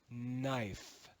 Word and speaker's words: knife: schwa will become silent in Middle English we would read this word as kanifa kanifa but in Modern English we read this word as knife knife with the cluster GH